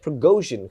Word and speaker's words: Prigozhin: He's a general in the Russian ground forces, and we got we got Prigozhin, who is apparently Putin's chef, and his name rhymes with Pierogi.